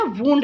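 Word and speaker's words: wound: बेटा इसकी pronunciation वाउंड नहीं है, वुंड है, ठीक है।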